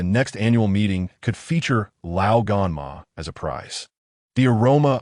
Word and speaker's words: Lao Gan Ma: I remember Tony has Lao Gama here. Pepper looked bewildered. Whose mother? Rhodes is slowly pronounced Lao Gan, Ma in Chinese.